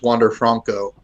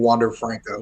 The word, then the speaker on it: Wander Franco: The only real big Rays player there was Wander Franco, and the stadium announcer mispronounced it. He kept saying Wander Franco.